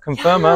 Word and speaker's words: Conferma: Of Conferma. Did I say that right? You said it right. Conferma, yes, that's it.